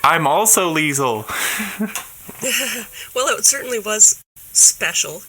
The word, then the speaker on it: Leisel: Tell me a little bit about that then, Leisel. I know, so what I know so far is that your family pronounces your name with a soft S, and that you play bagpipes.